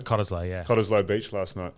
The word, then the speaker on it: Cottesloe: But even when I stayed at, how do you say it, Cottesloe? Cottesloe, yeah.